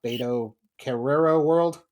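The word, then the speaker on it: Beto Carrero World: Very uh betrero world. Correct. Hey, pronounced that one right.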